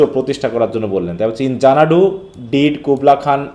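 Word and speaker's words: Xanadu: প্রথমে বলছে ইন জানাডু এ উচ্চারণ হবে কি জানাডু এক্স N eddy you ইন জানাডু জানাু কি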